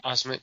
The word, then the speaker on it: Osment: And put Joel Osment, or am I pronouncing his last name right? Osment? Osment, yeah.